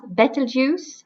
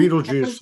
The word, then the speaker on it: Betelgeuse: star that's really difficult for me to to pronounce Betelgeuse I think Beetlejuice Beetlejuice yes because it's because it's right there